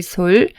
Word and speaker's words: 率: 들어 있습니다 거느리솔을 보겠습니다 거느리다의 의미로 쓸 때는 솔이라고 발음하고 헤아리다 또는 비율 이런 의미로 쓸 때는 룰이라고 발음합니다 거느릴 솔 헤아릴 률 비율 뮬 다음 종로가